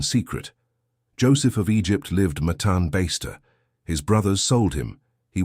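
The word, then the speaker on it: מתן בסתר: The Hebrew word that defines what is happening to you is Matan Baseter. Pronounce it with me in a low voice. Matan Baseter.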